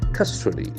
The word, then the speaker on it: custody: t o d y so we have three syllables here custody cust we have that sound custody custody the acction fors in the first Syle custody the legal right